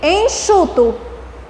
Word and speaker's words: enxuto: Em seguida, enxuto, CH. É muito interessante.